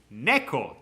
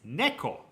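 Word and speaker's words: ねこ: the word for cat you already know the pronunciation NE Neco is cat in Japanese Neco Neco see the red is the co Neco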